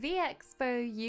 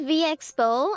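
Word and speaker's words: VExpo: Before I went on a trip to Vxo UK to meet and greet for VA, I went Oh my god, it's pronounced as V Expo. I kept saying I don't think it really matters.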